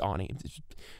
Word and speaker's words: Ani: Yes, it's pronounced Ani. Ah, it's ruining the intensity of this moment, but yeah, it's a stupid spelling.